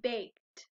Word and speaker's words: baked: next a bake baked what do you hear at the end of baked is it baked i hear the t sound at the end of baked so we're going to